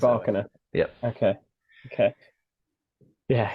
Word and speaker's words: Rybakina: So you're going to go with the bike, and I'm going to go with the bark, the dog bark. That's the way I'm going to pronounce it. Rybakina.